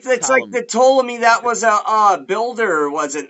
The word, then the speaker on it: Ptolemy: by Bran Nu and Ptolemy. It's a silent P. You'll never spell it right. It's PTLO. It's like the Ptolemy that was a builder, wasn't there?